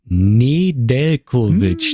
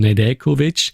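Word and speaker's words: Nedeljković: Where he explained how it's the correct pronunciation from Nedeljkovic because the the J is it's like you don't hear when you pronounce the name.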